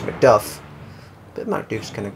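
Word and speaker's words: Macduff: I live here in MCD Scotland it's actually pronounced McDuff but MCD is kind of cool oh wolf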